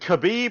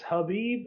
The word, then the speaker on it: Khabib: I think it's Habib. I think the K is silent. That's what I Um, thought. in their language, I think the K is silent. So it's Habib.